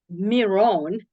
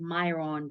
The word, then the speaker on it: Miron: today one is uh I also mispronounce your name Miron I didn't know it was pronounced uh that way I always said Myron because we live in us and then you know how we pronounce I such a beautiful name